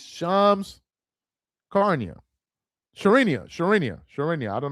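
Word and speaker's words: Shams Charania: Y'all are Charles pronounced Shamsc- I still can't pronounce that dude's name. It's Shams Carnia.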